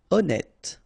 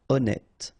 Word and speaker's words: honnête: Honnête. So remember, H doesn't exist. Honnête.